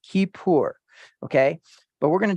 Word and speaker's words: Kippur: Okay, and that is Strong's Concordance 3725, and this is Kippur, pronounced Kippur.